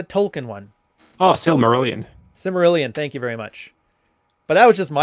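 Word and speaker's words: Silmarillion: his symbol aryan thing or similar how you pronounce that stupid book what symbolian yeah the tolkien one oh still merlin simerilian thank you very much but that was just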